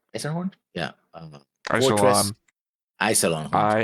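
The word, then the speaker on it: Iserlohn: wrong a thousand times because I have it baked into my head that it's Lauren and not lawn that's why I can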